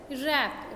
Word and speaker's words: wrap: Next, it इज़ नॉट wrap, इट इज़ नॉट wrap, इट इज़ wrap.